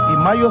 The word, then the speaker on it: Mallo: Mayo se escribe como gallo, LLO, Laboratorios Mayo.